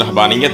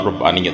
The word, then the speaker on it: رہبانیت: جائیں گی۔ ناظرین محترم، اس کا تلفظ رہبانیت بھی ادا کیا جاتا ہے اور رہبانیت بھی، اس کا مدرب ہے